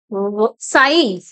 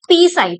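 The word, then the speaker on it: psi: साई। इसको क्या बोलोगे आप? साई। इट इज नॉट पी साई, पी is silent. तो ये है आपका साई।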